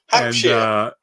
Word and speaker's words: Hampshire: I was talking about where people were from, And I said something Shire, and like, we don't call it Shire. It's not pronounced Shire. No, sheer. But sheer, yeah. Hampshire.